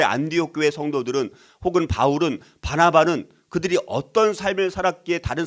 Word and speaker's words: 바나바: 바나바와 바울이 있었기 때문에 가능했다는 거예요. 그래서 하나님은 친히이 바나바 잘못하면 바나나로 발음을 하게 되어지더라고요. 바나바를 바나라고 하지 말고 우리 바나바 자 바나바와이